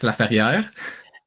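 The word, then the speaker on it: Laferriere: Alex Laier.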